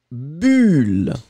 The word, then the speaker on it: bulle: Ici, le premier, vous allez le prononcer comme un ou, boule, et le deuxième, eh bien, vous allez le prononcer comme un u, bulle, d'accord ?